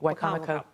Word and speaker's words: Wicomico: This was, am I pronouncing this right? Wicomico? Yep, Wicomico.